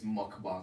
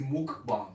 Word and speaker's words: mukbang: pronouncing korean things but i think it's mukbang i think i actually think it's mukbang oh man they ain't